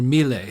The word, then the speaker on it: Mille: You met, is it Mil or Mille? How do you say his name?